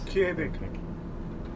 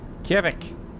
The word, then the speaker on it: Kjevik: I don't pronounce this. Kjevik. Kjevik.